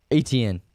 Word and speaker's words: Etienne: Travis Etienne.